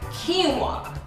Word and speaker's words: quinoa: you know what right it's pronounced quinoa yes he won yes